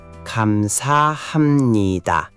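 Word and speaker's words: 감사합니다: Kamsahamnida.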